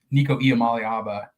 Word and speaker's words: Nico Iamaleava: You sit here and talk about Nico Iamaleava, and nailed the pronunciation there.